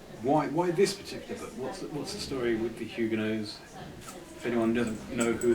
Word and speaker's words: Huguenots: Now, am I pronouncing the name correctly? Huguenots. It's Huguenots. Again, not Huguenots, Huguenots. A lot of people get it wrong.